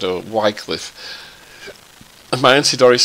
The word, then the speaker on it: Wycliffe: As we all know, my name's Wycliffe, and that's the correct pronunciation.